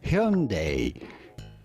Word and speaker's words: Hyundai: of get it from the original genuine Korean pronunciation of the brand and that would be Hyundai yeah yeah and